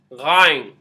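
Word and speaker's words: غ: Next letter we have Ghain. Sounds like a G sound at the beginning.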